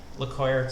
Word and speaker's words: LeCuyer: haven't watched Street and LeCuyer play. So maybe we'll stick here for a minute. I believe it's LeCuyer. I think the R is silent in the French pronunciation style.